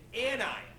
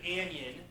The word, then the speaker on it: anion: It's called now an anion, not an anion. Okay? It's not an anion. It doesn't rhyme with onion. Okay? It's an anion.